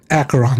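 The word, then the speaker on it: Acheron: were you I'd keep my distance from acaron acaron that's how you say it any schemes out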